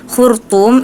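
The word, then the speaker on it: الخرطوم: kata Alal khurtum Nah tadi itu harusnya khurtum itu pakai huruf tho tapi tadi D dibacanya seperti Huruf ta khurtum sekedar seperti itu harusnya huruf th itu tebal sedikit ada pantulan karena dia merupakan huruf Qalqalah kemudian di sini yang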